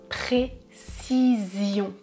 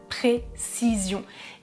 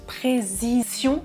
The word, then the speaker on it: précision: En français, je prononce précision, précision, avec le son S, puis le son Z, Z, précision. Et dans la vidéo, c'est assez intéressant parce qu'il prononce précision. C'est une petite erreur, c'est pas grave, mais je